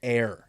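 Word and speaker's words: Eyre: for you is a guy named Brendan air and air is spelled e y r e and the special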